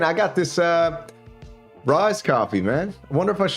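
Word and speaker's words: Ryze: It's called Rise, R-Y-Z-E.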